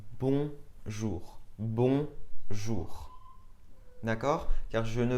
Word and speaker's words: bonjour: Ce n'est pas bonjour mais bonjour.